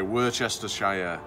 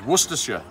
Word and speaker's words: Worcestershire: like that we say you say worchestershire yeah it's worcestershire worcestershire sauce worcestershire okay and we're gonna